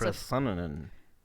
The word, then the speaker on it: Procyonidae: Procyonidae. We're gonna look up the pronunciation of that word right quick. It's Procyonidae.